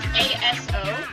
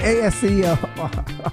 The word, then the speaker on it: ASO: It's just it's just ASO. That's how you say it. ASO. Yeah. ASO. I'm saying ASEO.